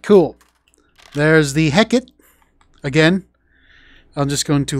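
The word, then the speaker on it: Hécate II: your way to victory with the Hecate not Hecate all right don't make the same mistake I made because a lot of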